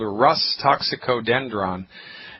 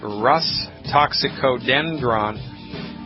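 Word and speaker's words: Rhus toxicodendron: It's called Rus toxicodendron. You spell that R like Robert, H like Harry, U, S like Sam, R-H-U-S.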